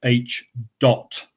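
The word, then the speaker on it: Ḣ: This is pronounced H dot.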